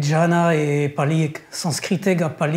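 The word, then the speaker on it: jhāna: Alors, "zen" est une déformation du sanscrit "dhyana" que l'on prononce "Jhana" en pali.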